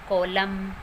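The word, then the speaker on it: column: जब भी वर्ड के लास्ट में एम एन इकट्ठे आते हैं, एम एन वर्ड के लास्ट में आते हैं तो एन वहाँ पर साइलेंट रहता है। For example autumn, कॉलम, dam. This word is डैम। तो यहाँ पर वर्ड के लास्ट में एम एन है और यहाँ पर एन जो है वो साइलेंट है।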